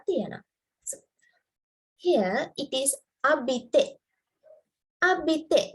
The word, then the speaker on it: habite: So here it is abite. Abite. This H is silent. It's abite.